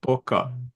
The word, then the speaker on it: Пока: How do you pronounce it? Пока. Пока. Paka.